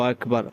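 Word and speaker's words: أكبر: বার বললে হবে না বার উপর যদি সাকেন করা হয় এবং তার পূর্ব যদি জবর অথবা পেশ হয় তাহলে উইরাকে মুটফুর করে পড়তে হয় মোটা করে পড়তে হয়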